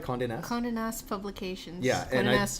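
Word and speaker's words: Condé Nast: were a travel journalist for condé am i pronouncing this right Conde Nast Conan asked publications yeah yes Travel Magazine yep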